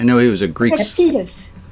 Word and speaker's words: Epictetus: Epictetus.